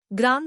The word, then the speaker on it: ग्रां: हा बीज मंत्र आहे हे ग्राम ग्रीम असं उच्चारू नका ते अशुद्ध आहे ग्रांग म्हणजेचे उच्चारण नासिका आणि तोंडातून समोर येणार आहे दररोज 108 वेळा या